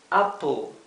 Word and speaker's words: Apple: la la una e la letra e es muda es Apple Sí luego tenemos la